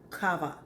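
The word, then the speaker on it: חוה: So, in thinking about this first woman, this woman that we know as Eve, who her name would have been pronounced something like Kava.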